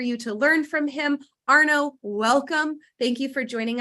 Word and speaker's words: Arnaud: So my name is spelled, it's a French name, so it's spelled a little funny, but it's pronounced Arnaud.